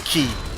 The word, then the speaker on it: chi: Yeah, that's one of the chi powers, or the key powers. That's what you pronounce it.